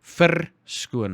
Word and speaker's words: verskoon: Remember, our R's are pronounced really clearly. Well, most of the time. Especially in the middle of a sentence or in the middle of a word, our R's are very crude and loud.